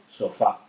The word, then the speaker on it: sofá: Por ejemplo, sofá. Sofá es una palabra bisílaba formada por dos sílabas y el mayor golpe de voz lo lleva en fa, en la sílaba final.